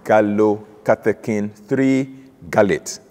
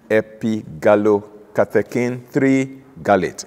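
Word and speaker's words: epigallocatechin-3-gallate: way to call it the full pronunciation can be you know jawbreaking it's actually gallow catacane three gallate epi gallow katakin three garlit or egcg for sure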